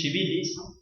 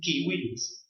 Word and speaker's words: civilis: Decir, por ejemplo, el corpus juris civilis o civilis es una forma de decirlo a la eclesiástica, pero el abogado, como sigue las reglas del latín clásico, debe decir corpus juris civilis, donde la C suena como K y la V suena como U o como W para hacer la pronunciación.